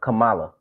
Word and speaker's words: Kamala: it wrong and and when somebody told me how to say it right uh they was like think Masala but anyway uh she had